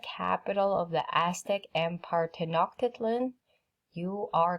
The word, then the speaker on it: Tenochtitlan: Tenochtitlan, I'm saying it again because it's in case you want to know how to say it.